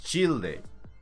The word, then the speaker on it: Childe: Dark Childe. Y es Childe. No es Child. Es Childe. Como los antiguos ayudantes de caballero. Como Childe Roland. Créanme. Así se pronuncia.